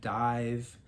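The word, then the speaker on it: DIIV: fourth album uh new sh gay band called Dive it's spelled di IV um I don't know they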